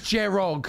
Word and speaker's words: Jerog: Jerog, am I saying it right? Jerog or Jerog? Jerud? No, it is Jerog.